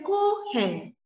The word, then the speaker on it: Kuchen: que también, chicos, es conocido en otro idioma como Kuchen, que se escribe Kuchen, pero se dice Kuchen.